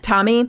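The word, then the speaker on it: Tomi: And Tammy Laren, is that how you say her name? Tommy.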